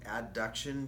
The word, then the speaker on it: abduction: sound too much alike so I pronounced an Abe like good old Abe Lincoln abduction and it's super easy to hear so you'll always hear me say abduction and adduction yes Adam okay so